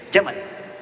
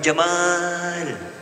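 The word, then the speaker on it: جمل: dia Jamal unta jantan tapi maaf pendek bacanya Jamal bukan Jamal kalau Jamal artinya ganteng tampan dia ganteng beautiful ya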